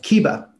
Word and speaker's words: Kihbba: So, Kalani Thomas is the CEO of Kihbba. I pronounced that right, correct?